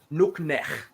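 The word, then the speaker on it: nuqneH: Remember the lowercase q, k, and the uppercase h, nuknech.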